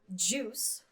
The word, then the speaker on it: JUICE: Then you have JUICE, whatever JUICE stands for, but JUICE is spelled like juice. Oh, okay. Like the drink.